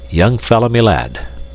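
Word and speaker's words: young fellah my lad: gone and done it young fell my lad this curious phrase he pronounced as if it were all one word young fomy lad yes we've taken a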